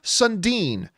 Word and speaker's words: Sundin: And our third main topic today gets submitted to us by Gar Sundin. The only reason I know how to pronounce that is because one of my all-time favorite hockey players, Matt Sundin.